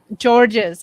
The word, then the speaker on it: Georges: This And is you pronounced my last name earlier, so my name is pronounced Georges because it's not George, because it has like an S at the end. Georges.